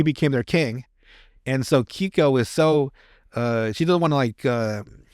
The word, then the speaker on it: Keiko: So he goes to Kyoko. It's hard to say her name, Kyoko. So it's Keiko or Kei, but it's Kiko.